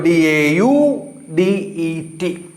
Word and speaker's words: Daudet: It is not Daudet, T is silent there. So Daudet.